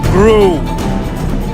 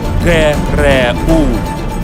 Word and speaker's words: GRU: It's not pronounced GRU. It's 3 capital letters, GRU. It's an acronym, and it stands for Главное разведывательное управление.